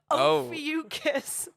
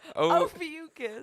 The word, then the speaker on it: Ophiuchus: How do you pronounce? Ophiuchus. Oh. Would you call me? Ophiuchus.